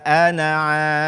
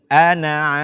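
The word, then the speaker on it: أنا: dengan pendek ketika wakaf kata Anna yang artinya saya di dalam al-quran hendaknya kita baca tanpa huruf mad atau tanpa membacanya dengan panjang ketika kita meneruskan bacaan wala Ana abdun Ana abidu dan sebaliknya kita baca dengan mad ketika kita waqaf padanya seandainya Kita terpaksa berhenti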